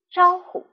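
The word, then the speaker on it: 招呼: 是的，招呼一词读轻声，请跟老师读招呼，招呼。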